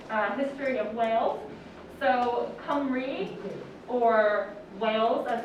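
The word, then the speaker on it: Cymru: quick and dirty uh history of whales so come read or Wales as it's called an English Camry is the wealth pronunciation is a country that is part of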